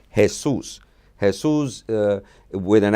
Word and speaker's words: Jesús: name the nickname chewy comes from the name hey-soos has who's with an accent on unto you